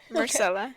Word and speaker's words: Myrcella: Myrcella. Is Yeah. that right? Myrcella, yeah.